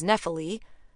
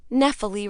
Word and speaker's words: Nephele: my name, which is Nephele, after a cloud nymph from Greek mythology, who is so obscure I was pretty sure nobody but my mother had ever heard of her. Nephele rhymes with especially, is what Mom used